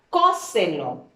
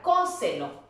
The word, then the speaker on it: cóselo: Perdón, la palabra cóselo. ¿Qué vamos a hacer primero? Separarlo en sílabas.